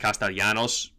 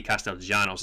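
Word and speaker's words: Castellanos: because Argentinian C I know his name is pronounced castalanos but in Argentine in Spanish his Double L means actually means a j so tati Castell Janos is how his name is pronounced however he's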